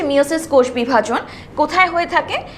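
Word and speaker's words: meiosis: মায়োসিস কে নিয়ে। যেটাকে আমরা আগে বলতাম মিয়োসিস। কিন্তু আসল প্রোনাউন্সিয়েশন হচ্ছে মায়োসিস।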